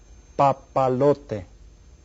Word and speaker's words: papalote: Well, I tell you what, how many syllables are there in the word papalote? See if you can figure it out. Papalote. How many? 4. Hay 4 sílabas. And which one is stressed? The 3rd syllable.